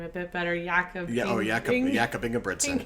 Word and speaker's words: Ingebrigtsen: You pronounce his name a bit better, Jakob. Jakob Ingebrigtsen. Ingebrigtsen.